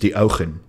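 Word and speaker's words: Deogen: So Diogen should be pronounced Diogen.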